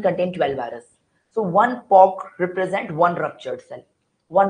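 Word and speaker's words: pock: These are known as POC. P-O-C-K, POC. It is not P-O-X. It is P-O-C-K. What is the pronunciation?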